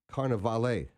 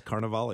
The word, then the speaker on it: Carnevale: artists, Robert Park, and uh gallery director Carnival. Yes. Yes. Good morning, Alan. Good morning. I pronounced it right. You did. Yes. You did very well on that. I'm working at it. That's awesome. Yes. Carnival.